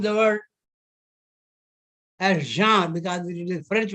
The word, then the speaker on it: genre: I have heard it people saying it genre, but phonetically the word genre, because it is a French word and French language has nasal tone. So gender dictates the genre.